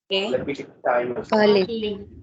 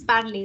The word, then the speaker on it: parler: And also you have EZ, ET, ER, EZ, ET. These three are pronunciations of A. A as in English ka first alphabet A. So this should be? Parler. Yes, parler. So you have the A in the end, parler.